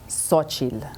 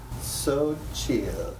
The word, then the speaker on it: Xochitl: Phonetically, it's gonna sound like so, S-O, and then chil, like C-H-E-E-L. I wanna help you with this. Xochitl. Xochitl.